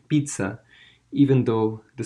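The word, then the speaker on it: Pisa: is the leaning tower of pizza it's actually pronounced pizza even though the spelling is P is a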